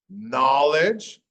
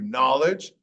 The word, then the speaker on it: knowledge: Knowledge, no sound for the W. Knowledge, toward, well, actually it does make a sound here.